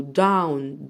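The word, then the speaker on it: down: اي ان جي تبقى احنا قلنا الاتنين بننطقهم دول دي او دي بنت لما اشوفها بننطقها او يبقى انا عندي هنا الاو والدبليو وهنطقها او يبقى داو داو داون جاون جاون جوينج جاوند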